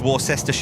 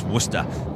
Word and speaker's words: Worcester: Dev Blue, nobody says Warester, right, Charlie? That's right. No, it's Worcester.